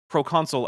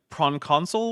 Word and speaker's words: proconsul: The last thing, the very last thing that happened was these guys managed to mispronounce proconsul as like pron console or something like that.